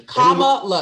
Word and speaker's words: Kamala: It's a comma. That's all you got to do. Right. So comma, this juncture, comma. people are mispronouncing her name. Is just y'all just on lazy. purpose. It's on purpose and it's lazy. Comma, la. It's not that complicated.